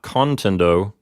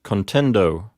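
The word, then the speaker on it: contendo: the P note it's not contend oh it's contend oh why well you have two consonants in a row the N and the D it's going to make the peanut read as a long syllable another way to think of it is that the P note is a closed syllable te in the letter n closes the P note the letter D opens the next syllable so contend o take a look at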